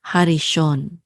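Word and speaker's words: הָרִאשׁוֹן: And this is a shin with a cholam vav, which says o, so sho. And then the nun sofit closes this syllable out, so it says shon, harishon, which means the first.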